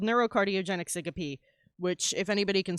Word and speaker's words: syncope: Yeah, it's everybody pronounces syncope wrong from the reading as well. Like they'll read it as syncope. And I'm like, nah, you pronounce the E.